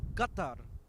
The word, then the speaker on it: Qatar: and he called it Kar heard of Kar Airways I think you'll find it's called Qatar Airways or if you want to do it the proper pronunciation Qatar That's all right.